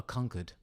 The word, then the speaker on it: Conchords: a commodore how about conchords oh yeah but i would pronounce it the english way a conquered okay that's fair all